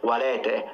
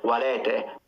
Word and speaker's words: valete: That's not how I pronounce them. I closed them. So I went E, O, U for the long ones. You don't need to close them. You can open them.